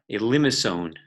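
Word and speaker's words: limaçon: has its own name and its called a limb asone which is spelled L I am AC o n but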